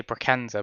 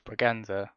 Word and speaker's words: Braganza: I'm trying to pronounce his name right because I always say Braganza, but it's not, is it? It's Braganza.